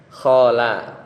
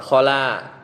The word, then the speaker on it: khala: Khola eh khala ya bacanya ya.